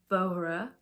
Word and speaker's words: Vohra: found this video on YouTube um by Steph vohra and that's how you say her name um